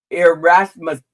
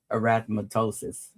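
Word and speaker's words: erythematosus: So then the famous one lupus and it's called um systemic lupus irmatustosis. Arathmattosis. Okay, I said it right the second time but you know don't don't don't judge.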